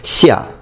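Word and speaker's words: 夏: It is pronounced shia.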